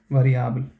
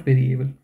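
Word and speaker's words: variabel: So Germans also have this adjective variable, so we don't say, the spelling is the same, but we say variable. Okay, variable and not variable in German.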